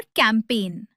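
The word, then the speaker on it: campaign: जी silent होता है जब वो एन से पहले आए। जैसे साइन, डिज़ाइन, फॉरेन और कैंपेन। यहां जी को बिल्कुल भी प्रोनाउंस नहीं करना है।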